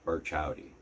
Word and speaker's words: Burchowdy: And you got to get used to how how that name is pronounced. It's Birch Howdy.